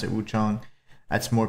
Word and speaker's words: Wuchang: I do call it I do say Wu Chong pronounce it Wu Chong. That's more correct. I know that some of the voice actors in this also say Wu Chang.